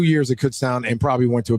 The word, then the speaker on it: Kutztown: Is it Kutztown? Kutztown.